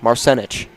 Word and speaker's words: Marsenich: Greg Leichner, accent on the second syllable in Marsenich. Marsenich.